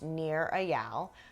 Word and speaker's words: Nir Eyal: a book written by a guy named near a yal I have been following his blog near and far near is spelled like his name for a while his